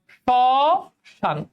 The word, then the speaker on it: শ্মশান: তাহলে শ্মশান উচ্চারণ কি হবে বলো? শ্মশান।